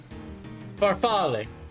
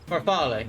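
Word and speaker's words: farfalle: Farfale. Farfale. That's it. Farfale. Yeah, barfal pasta. Uh, spelled like this.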